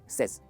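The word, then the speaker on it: says: Right, आप अक्सर ऐसे प्रोनाउंस करते हैं सेज, पर ये गलत प्रोनाउंसिएशन है। इसे कहेंगे सेज। देखिए difference, सेज, सेज, सेज, सेज।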